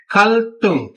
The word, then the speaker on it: 갈등: ये प्रोनाउंसिएशन है कि जी अगर किसी लफ्ज के पश्चिम में रियल आ रहा हो और उसका अगला जुज इन कांस्टेंट दिक्कत शियत और जियत से शुरू हो तो ये वाले कांस्टेंट जो है ये टेंस साउंड देंगे. यानी कि दिक्कत जो है संग दिक्कत की ट की और संग चियत स की जियत संग जियत यानी कि च की साउंड देगा.